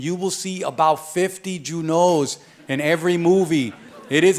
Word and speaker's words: Junot: My name, in fact, is Junot. The T is silent. If you pronounce the T, you're pronouncing my name wrong. Now, here's the deal.